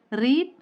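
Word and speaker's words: read: இப்போ நமக்கு இதோட பாஸ்ட் பார்ட்டிசிபிள் எப்படி ப்ரொனவுன்ஸ் பண்ணணும்னு தெரியணும் இல்லையா? ரீட், ரெட், ரீடிங், அதான் இதோட 4 ஃபார்ம்ஸ்.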